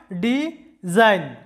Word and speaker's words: design: নিলে ডিজাইন শব্দটা হয় ডিজাইন তো জাইন সিলেবলটির মধ্যে যেহেতু এন এর আগে জি আছে তাই জিটি সাইলেন্ট থাকবে জি এর কোনো উচ্চারণ হবে না জাইন এরকম হবে ডিজাইন ডিজাইন যেটার বাংলা অর্থটা